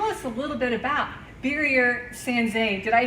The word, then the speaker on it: Birger Sandzen: Ron, tell us a little bit about Birger Sandzen.